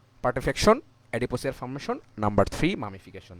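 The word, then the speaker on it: putrefaction: সেগুলো হচ্ছে number one পার্টিফিকেশন sorry পার্টিফ্যাকশন আসলে এগুলো প্রোনাউন্সিয়েশন হয় পার্টিফেকশন নাম্বার টু হচ্ছে এডিপোসিয়ার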